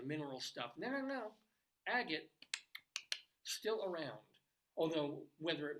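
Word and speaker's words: Agate: pronounced differently I had to check how it's pronounced but it's agot uh population is about 450 people they do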